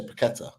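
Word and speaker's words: Paquetá: that I always say paquetta and they really make a big meal out of it because we only do it in this country though we're like every other country they would just say paquetta uh that's it like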